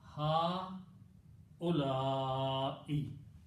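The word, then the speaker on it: هؤلاء: Okay, so ha u, then you have la, and you have e. Okay. Now, because of this Hamza here, this alif should be pronounced with a mad. Okay. So it is. So don't stretch on the wow. It is ha ulai.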